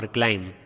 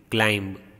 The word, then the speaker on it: climb: Time, climb. Time, climb. Here E is silent, here B is silent. So these words are rhyming words. We don't pronounce E. Same way we don't pronounce B over here.